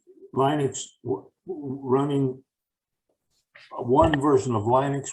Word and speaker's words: Linux: version of linux and i say linux because that's what linus talbot said it's pronounced as linux running one version of